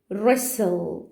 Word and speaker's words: wrestle: تعالوا كده هنا wrestle.